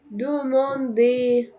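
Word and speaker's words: demander: دوموندي، حرف الار في الاخر برضو مش هنطقه.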